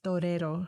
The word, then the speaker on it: torero: So torero, is that how you say it? Pretty close. I would say torero.